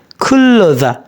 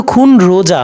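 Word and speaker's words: 근로자: কোম্পানির কর্মী খুল্লজা শ্রমিক খুল্লজা শ্রমিক এটা কিন্তু খুন রোজা না এটা হচ্ছে কি খুল্লজা কেন খুল্লজা এটা নিয়ন ভাসিমের পরের ইউ থাকার কারণে এটা একত্রে ল এলো উচ্চারণ হবে খুল্লুজা শ্রমিক ওকে নেক্সট কিয়ং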